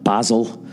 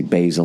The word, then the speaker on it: basil: ] Great Britain but when it comes to spices everything is different we say oregano we say basil they say oregano basil whatever the [ __